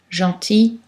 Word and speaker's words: gentil: Mais dans certains mots, il ne se prononce pas. Gentil, outil, fusil, cul-de-sac.